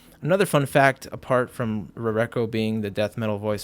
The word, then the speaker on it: Rarecho: This is Rareko, or Rarecho as some might pronounce it. For a time I pronounced it Rarecho, but I think the correct pronunciation is Rareko.